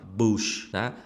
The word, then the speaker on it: bush: Ingliz tilida misol misol keltiraman sizga ayt bush soʻzi B u s yoziladi lekin ko'pchilik buni bosh deb talaffuz qilish kerak bo'ladi.